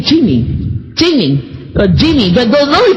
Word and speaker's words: Cheemee: Jamie's not calling you cheap. He's saying Cheemee.